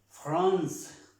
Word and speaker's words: France: La C, por ejemplo, France, France, France, France, la C. France, no estamos pronunciando la E.